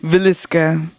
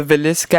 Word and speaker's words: Villisca: I forgot that I needed to practice how to pronounce it before. Villisca. The Villisca Axe Murders.